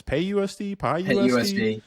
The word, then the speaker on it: PYUSD: I've never heard I haven't heard anyone actually pronounce it so the ACT it's p-y-u-s-d so what what are people calling this pay USD pay USD pay USD okay that makes sense